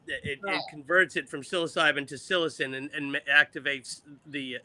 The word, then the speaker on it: psilocybin: IASA psychosin how do you say it psilocybin psilocybin psilocybin Psilocybin is the is the actual mushroom.